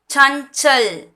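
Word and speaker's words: चंचल: அப்போ சானா இதை எப்படி ப்ரொனவுன்ஸ் பண்ணுவோம் புள்ளிய, இஞ்சு. சஞ்சல், சஞ்சல்னு ப்ரொனவுன்ஸ் பண்ணணும்.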